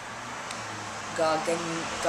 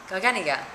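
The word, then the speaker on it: Garganega: Gargangia. I'm sure I'm pronouncing that wrong. One of the key things to know about Soave, oh, it says here how to pronounce it, Garganiga, right.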